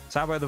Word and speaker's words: sabot: Technically the sabbo there are two official ways to pronounce it. Sabo the version or sabbo the most English version that people most English use and sabot emphasize the t in the pronunciation to the French way something I've never actually understood.